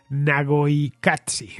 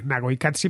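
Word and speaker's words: Naqoyqatsi: Y la tercera, Nagoikatsi, Nagoikatsi, pero el Nagoi, la I es Y, no hay latina.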